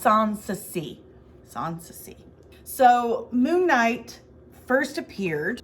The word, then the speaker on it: Sanssouci: Yeah, and it's pronounced Sanssouci. Sanssouci.